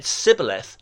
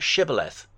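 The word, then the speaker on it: shibboleth: They said cibth, not shibth.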